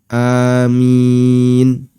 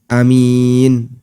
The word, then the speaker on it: Aamiin: Sehingga cara membaca amin, minnya sama, semuanya panjang, tapi A-nya ada yang dibaca panjang, ada yang dibaca pendek. Karena itu bisa dibaca dengan amin. Bisa juga dibaca dengan amin. Ada dua cara baca.